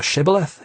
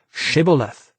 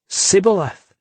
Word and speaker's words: shibboleth: off as a friend, the Gileadites would make him pronounce the word shibboleth. It actually meant flooding stream, but in the Ephraimite dialect, initial sh sounds were always pronounced s, so the Ephraimite would say sibboleth and give himself away.